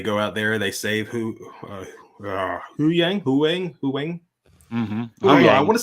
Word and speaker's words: Huyang: Yeah, and so I think the big thing is Huang. Oh God, it's never gonna get. Yeah, Huyang.